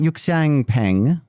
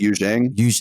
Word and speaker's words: Yuxiang: Am I saying this right? Yuxiang Peng. I apologize, Yuxiang, if I said that wrong. I think it's Yuzhang. Thank you.